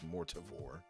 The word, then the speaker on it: Mortivore: So my buddy Mortivore or Mortivori, how do you say your name, Casual? Yeah, we call him Casual, but it's Mortivore.